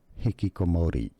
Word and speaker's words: hikikomori: And hikikomori.